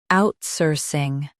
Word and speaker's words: outsourcing: Now read the syllables shown on the screen naturally. Out, soar, sing, outsourcing. Emphasize out and keep sourcing clear.